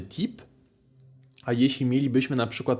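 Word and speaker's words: type: Pamiętajcie, że litera y we francuskim brzmi tak jak i, więc w takim słowie jak to wiecie, że czytamy tip.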